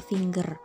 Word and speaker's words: finger: finger Hai itu salah yang benar adalah finger pakai g oke yang kedua itu